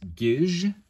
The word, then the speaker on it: Gisg: And then finally, we get to the letter T in English, and the Enochian equivalent of that is gij. So it's spelled G-I-S-G.